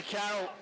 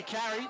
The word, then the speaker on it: Carroll: Fletcher Carroll. Did I say it right? No, you got it right. Not Fletcher Carey, like Panda might have called him.